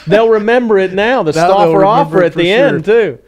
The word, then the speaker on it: Stauffer: The Stauffer offer at the end, too. Let me say it correctly. Stauffer.